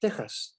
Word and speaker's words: Tejas: Likewise, Texas, you say Texas in English, but if you write it with an X, it's in Spanish, you would pronounce it Tejas.